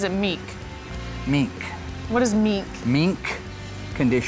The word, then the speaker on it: mink: What is meek? Meek condition. How do you spell that?